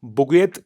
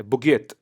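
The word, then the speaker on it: bougette: बजट को derive करा जाता है एक फ्रेंच वर्ड से, जिसको बुगे या फ्रेंच प्रोनाउंसिएशन के तहत जिसको बुगेत कहा जाता है, बुगेत।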